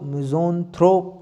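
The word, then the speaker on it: misanthrope: अब देखिए मिज़ेंथ्रोप, मिज़ेंथ्रोप को कैसे हम, मिज़ेंथ्रोप देखिए मैंने तो बोल दिया मिज़ेंथ्रोप, लेकिन आप इसको कैसे प्रोनाउंस करेंगे? तो मिज ऑन थ्रोप, मिजोन थ्रोप, मिजोन थ्रोप।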